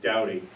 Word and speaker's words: David: to the ordinary but David over there is pronounced dowdy and it comes from